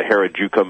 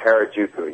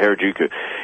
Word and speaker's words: Harajuku: uh when when you uh how do you pronounce her you say the heruka movement oh Harajuku yep yeah Harajuku you you you you say in that the